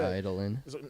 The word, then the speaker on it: Eidolon: Idolin.